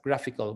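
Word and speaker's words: GraphiQL: id is called uh graphical although it's it's pronounced as graphical graph iql so whenever here you can see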